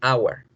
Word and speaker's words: hour: Miren acá, hour, agua. Miren, un triptongo, la A, la U y la schwa.